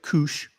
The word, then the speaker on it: Koosh: and by the way Koosh rhymes with douche Jewelers jewelry let's be